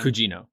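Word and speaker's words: Gugino: Cugino.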